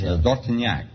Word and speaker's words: Dortinack: How would you pronounce it over there? In France, Dortinack.